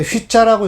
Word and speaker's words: 휘: 보고 가르쳐서 이건 휘자라고 읽어야 돼요. 위로 읽으면 안 돼요.